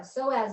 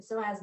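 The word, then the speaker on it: psoas: remember that whole idea of like our uh soaz muscle which is spelled PS OAS and it's one of my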